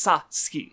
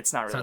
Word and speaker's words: Satsuki: Where they read it, Western reads it and they see the T and they're like, oh, that end, that's the end of that syllable, sat. But it's sa ski. It's not really Satsuki, like that.